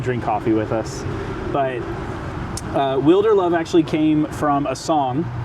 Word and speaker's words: Wilderlove: Wilderlove, like, yeah. And am I saying it right? You're saying it perfectly. Because a lot of people say Wilderlove. Yeah.